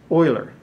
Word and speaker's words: Euler: swiss mathematician and so his last name is pronounced euler when you see e that's euler's number and